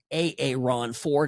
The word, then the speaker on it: Aaron Ford: Aaron Ford is how he pronounces it, our Attorney General.